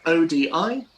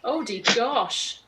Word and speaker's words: Odigosh: Odigosh. Ah, okay. I thought it was like Odie gosh. Yeah. Odie gosh.